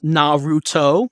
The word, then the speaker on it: Naruto: have to continue on with these dates it's pronounced Naruto I'll remember that and some people saying that